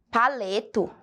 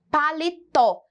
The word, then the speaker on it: paletó: então é essa daqui se nós esquecemos aqui um por um minuto o acento como ficaria a leitura dessa palavra crianças ficaria paleto paleto Olhem só olha a diferença de pronúncia colocando o acento nós temos então a palavra com a grafia correta paletó que faz referência a